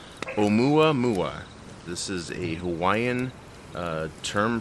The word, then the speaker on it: Oumuamua: is could possibly be the space probe that has left our solar system back in 2017, known as, and this is the pronunciation, Oumuamua.